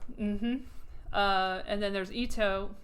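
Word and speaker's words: Joi Ito: Uh, and then there's Itto. Itto. I don't know if that's the right word. There's this guy Joyita. No What is his name? Hold on a second. I haven't seen that name in a while. Say not that. Joy. MIT. Yeah, that's totally going to get me what I want. Joyito. Yeah, Joyito. I got it right.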